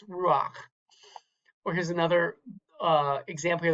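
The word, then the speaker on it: רוח: single line, the combination, you actually pronounce, this is about the only time in Hebrew you pronounce the vowel before the consonant, not the other way around. Some linguists call this a furtive patak. So this here's a really common word, the word for spirit in Hebrew or wind is ruach.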